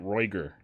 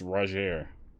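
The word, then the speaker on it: Rogier: keep it in mind rajier is r-o-g-i-e-r i was pronouncing it reuter but apparently it's roger i'll keep it in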